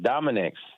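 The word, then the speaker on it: Dominick's: Because it's pronounced Dominic's with a S.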